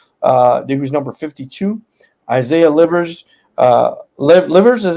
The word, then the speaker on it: Livers: Isaiah Livers, is how you say it, 42 from Michigan.